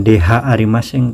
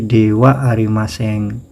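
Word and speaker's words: では: H ini tulisannya dibacanya wa, bukan dh arimaseng tapi dewa arimaseng.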